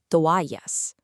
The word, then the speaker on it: toallas: First, the word for towels, toallas. Notice how the stress is on that A sound, toallas.